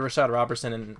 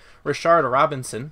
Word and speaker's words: Rashard Robinson: Donte Johnson Jimmie award Rashad Roberson and whoa mispronounce that name Rashard Robinson there we go and